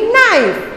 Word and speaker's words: knife: Next है नाइफ, ये के से स्टार्ट होता है पर जो के है वो साइलेंट वर्ड है। ओके, साइलेंट लेटर है, KNIFE, नाइफ, KNIFE, नाइफ।